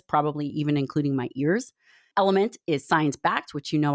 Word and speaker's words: LMNT: So it's spelled LMNT, but it sounds like Element.